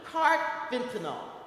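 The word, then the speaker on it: carfentanil: fentinyl and there's a new one cart fentinel is how it's pronounced and there was one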